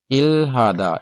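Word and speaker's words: 일하다: नीचे आ जाए जी, उसमें उसने लिखा देखें इल्हादा, इसको इरादा पढ़ेंगे, हियत आपका रूल हम पढ़ चुके हैं कि हियत साइलेंट ही आता है।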